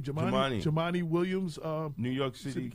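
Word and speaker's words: Jumaane: How do you pronounce his name? Jemani.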